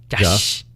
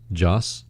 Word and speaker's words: Joss: But when Josh Whedon came in, that's how you say his name, right? Josh. Joss. Josh. Joss. Josh. No H.